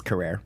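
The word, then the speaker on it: Carrere: I asked her PR person. It's Carrera. Carrera.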